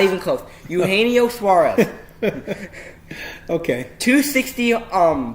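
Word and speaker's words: Eugenio: trying to say his name a can oh hey Neos yeah not even close you haenyeo Suarez okay to 60 um by an average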